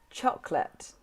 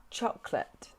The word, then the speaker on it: chocolate: different every every and now one that is often very tricky for learners to pronounce chocolate chocolate and camera camera now